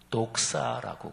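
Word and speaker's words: δόξα: 않으셨겠지만 굉장히 재밌잖아요 그죠 영광이 헬라어 발음으로 독사예요 우리 사람이 관리하기 힘듭니다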